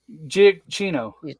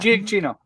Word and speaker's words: Giacchino: I couldn't pronounce it. Michael Giacchino. Chino? Yeah, something like that. Giacchino.